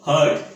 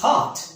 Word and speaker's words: heart: That is not hard, that is heart.